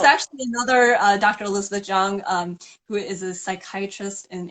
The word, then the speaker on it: Chiang: And my last hmm, name is Chiang, though it's pronounced Jung as if the CH were a J.